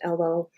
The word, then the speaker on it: Elo: chose Elo, and that is in honor of my father's ethnicity because he was Finnish, and Elo is a Finnish name and, should be pronounced Elo.